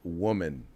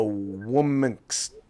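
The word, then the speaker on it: womxn: not what is a woman's they said well I don't know how it's pronounced it's probably pronounced woman just with an X in it and I said oh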